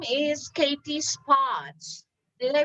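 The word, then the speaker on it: Katie Spotz: she's really very interesting and her name is katie spots did i pronounce it right katie that's perfect thank you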